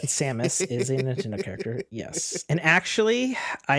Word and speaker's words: Samus: now can I take Seamus that's not how you say her name but Samus character yes and actually